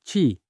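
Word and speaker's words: qi: buhay na kilala bilang jing o mahalagang k binibigkas na chi.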